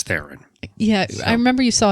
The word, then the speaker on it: Theron: Seth Rogen and Charlize how do you say her name Charlize Theron Theron or thier own I think she calls it Charlize Theron yeah I remember you